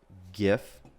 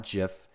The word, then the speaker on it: GIF: one more time loop and i'm gonna have gif uh rename loop gif not jiff if it was uh if gif stands for